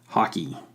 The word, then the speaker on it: Hawkey: is their goalie, Hayden Hockey. I want to call him hockey, but that just sounds like the game hockey. It's spelled Hawkey. So, Hawkeye? Is he missing an E on the end?